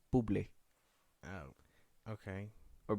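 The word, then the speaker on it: Bublé: his name like that cuz that's his last name it has the comma in the back it has to be bubly oh okay or bubbly bubbly no uh good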